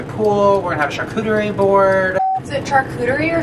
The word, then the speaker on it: charcuterie: we're gonna have a charcuterie board. Is it charcuterie or charcuterie? Share shoot. I think it's charcuterie. It's not share shoot as originally thought. Charcuterie?